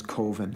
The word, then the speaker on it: Coven: name of film is koven koven coven uh coven that's the proper pronunciation no no coven sounds like oven man and that's just it